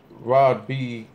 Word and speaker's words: Rad B: We're gonna talk about the Charlie Clips and Rod B. It's spelled Rad B, but the Rod B battle that UDubb just put out.